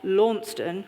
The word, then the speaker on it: Launceston: For me, that's been about how to pronounce Launceston and not Launceston, which is how you have to do it in Cornwall.